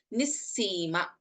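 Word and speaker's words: निःसीम: So, as mentioned earlier, Visarga and then we have Sa. This is pronounced as Nissima. We don't chant the Visarga here.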